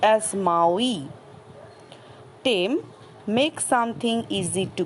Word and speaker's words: Maui: First word Maui, pronounced as Maui.